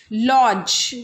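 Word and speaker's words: lodge: लॉज. लॉज. डी यहाँ देखो D silent हो रहा है ना तो D सब में साइलेंट होता जाएगा और ज ज बोलते जाएंगे हम.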